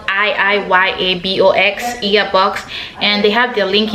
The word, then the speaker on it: IIYABOX: birth, you can go on their Instagram at earbox. It's spelled IIYABOX, earbox, and they have their link in their bio,